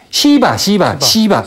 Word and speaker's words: 시바: 하는 신이 있고 크리슈나 쉬바나가 아니라 시바 발음을 잘해야겠네.